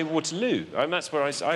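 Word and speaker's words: Waterloo: l no I say water L and that's where I I like I choose to put my stress there waterl on the third syllable think about the chorus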